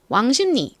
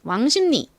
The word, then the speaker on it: 왕십리: 유의하셔야 될 부분이 있습니다 철자는 왕십리이지만 저희가 이걸 발음할 때 왕십리 이렇게 발음하지 않죠 어떻게 발음하나요 왕심니 왕심니 요렇게 왕심니 럼 발음을 합니다 발음의